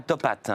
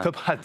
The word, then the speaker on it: Top Hat: Prononcez bien le H aspiré, dites pas Top Hat. Top Hat.